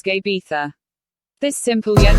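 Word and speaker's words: uisge beatha: water of life that in gaelic is pronounced just gabetha this simple yet not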